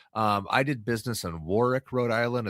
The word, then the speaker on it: Warwick: So they've got some positive stuff, but it's I did business in Warwick, Rhode Island. It's spelled like Warwick, but it's pronounced Warwick.